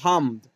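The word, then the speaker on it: حمد: नहीं हम हे और उसके बाद अलिफ भी लगा हुआ है लेकिन ये साइलेंट कर दिया हुआ है हमद हमद हमद हम लोग पढ़ते हैं हमद ठीक है हे के बाद अलिफ लगा हु लेकिन उसको पढ़ा नहीं जाता डायरेक्ट लिखा जाता है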